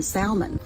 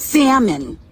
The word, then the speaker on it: salmon: and here's a bonus you know they're the wrong one if they pronounce the L in Salmon cuz it's salmon in salmon salmon is